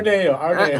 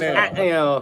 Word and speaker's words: Ateneo: Arneo, Ateneo, We know it as Arneo, Arneo. but it's Ateneo.